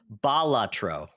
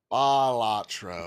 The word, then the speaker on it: Balatro: Yes, and it's actually pronounced Balatro. Balatro.